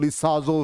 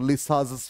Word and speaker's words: Lissajous: बहुत लोग इसको शॉर्टकट में, हम लोग जब मेच्योर नहीं थे तो हम लोग लिसाजो फिगर कह देते थे, ठीक है ना। तो लिसाजस फिगर होता, इसका एग्जैक्ट प्रोनाउंसिएशन अब ये कर्व है,